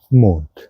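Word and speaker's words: Mond: La luna se llama mon m o n d mont. Bueno, no se pronuncia tan larga la o, pero sí hay que exagerar un poco para aprender bien el mon.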